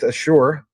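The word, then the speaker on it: Asure: Because they have this connection, this key partnership with Ashure, not Microsoft Azure, different pronunciation, different company, but they are the number one payroll and HR platform for banks.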